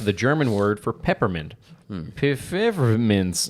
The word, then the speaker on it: Pfefferminz: Pfefferminz. That's how you say it in German.